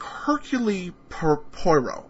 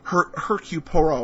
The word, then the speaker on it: Hercule Poirot: I have to look that up because when I see it, it looks to me like Hercule Poirot, but that's not how it's pronounced.